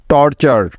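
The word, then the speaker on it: torture: একটি word pattern আর এই word প্যাটার্নটির উচ্চারণ সবসময় হয় চার এর মত মনে আছে তো সবার তাই টি ইউ আর ই এর পরিবর্তে নিয়ে নিব চার তাহলে এই শব্দ উচ্চারণ হবে টি ও আর টর এবং টি ইউ আর ই চার টর্চার টর্চার টর্চার অর্থ হলো অত্যাচার বা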